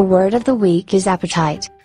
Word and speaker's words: apatite: of the week is apatite let's break it down into syllables @p type that's three syllables good job Chris Caesar